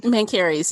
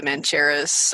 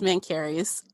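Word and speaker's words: Mencheres: Yeah, I probably would have been using the CH differently, Mancharis or something like that. Oh, no, it's Mancarys.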